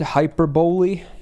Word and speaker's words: hyperbole: I always find it stupid that it's bowly. To me, hyperbole would make so much more sense, but I'm pretty sure I was corrected in the past that it's apparently like hyperbole or something.